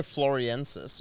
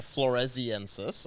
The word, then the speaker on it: floresiensis: physicists something like that there's homo floriensis or floriensis yeah yeah floresiensis I think it's pronounced which is those are